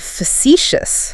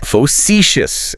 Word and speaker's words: facetious: Then we have facetious. Facetious, emphasis on the second syllable.